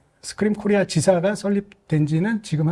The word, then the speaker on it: SQream: 스크림이 뜻은 그냥 그 비명을 지르다 스크림 있잖아요. 네네. Make data some scream. 사람이 비명을 지를 만큼 놀라운 성능을 가진다. 놀라운 성능을 낸다. 아니 그러니까 발음이 스크림 그건데.